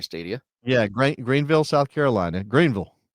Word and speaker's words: Greenville: That was an interesting story, and can't wait to see that Greensville Stadium, the Rensen of soccer stadia. Yeah, Greenville, South Carolina. Greenville. You got to say it like that.